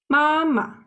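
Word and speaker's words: 妈妈: put in red so compared with this two syllables the first one ma is in the first tone well this neutral tone sounds like Ma together sounds like Mama mama neutral tone sounds short and aligned and also soft yeah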